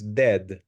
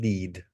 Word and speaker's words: dead: the pronunciation is dead, not deed.